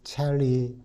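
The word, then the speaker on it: Chelly: 구역 안에 있는 캐년디 첼리 내셔널 모니먼트 어, 우리는 영어로 그냥 첼리라고 그렇게 잊어는 볼쉐이라고 읽어야 한답니다. 아, 거기 전망대를 둘러볼 기회를 가졌습니다.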